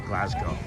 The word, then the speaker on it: Glasgow: Just FYI, uh, Scott's pronounced Glasgow as Glasgow.